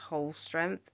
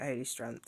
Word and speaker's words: Holstrength: from work okay so so it's pronounced whole strength but all through the video I just call it holy strength so we just just